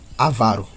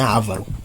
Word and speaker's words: avaro: Avaro, tá? Aaro. A palavra tônica aqui é a antepenúltima, tá? Não é ávaro, tá? É avaro. Então, a palavra trônica sendo